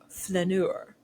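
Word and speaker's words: flâneur: an idler or loafer really make sure to botch the second syllable to sound French when you say this word f hope you are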